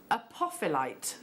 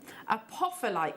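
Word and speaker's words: apophyllite: Jackie so this is I can't pronounce that apophilite I have to break it down a poffer-like cluster so A beautiful natural apophylite the one that you're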